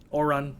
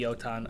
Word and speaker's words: Otan: They have a description and picture of Oren, sorry. It was supposed to be Otan. I mispronounced it when I said it, but we'll keep it Oren.